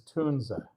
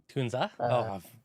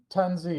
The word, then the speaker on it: Tunze: So the the correct German pronunciation is tuna. Tunza wrong on both accounts. Or it's you know the the accent to the e kind of has a distinct German sound. But the uh tanzi has generally been the